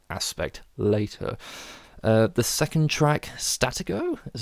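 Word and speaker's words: Stratego: more on that aspect later the second track statico is how you pronounce it um is one of the better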